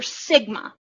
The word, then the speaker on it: sigma: What you really need to know from this slide is that this is pronounced the Greek letter sigma.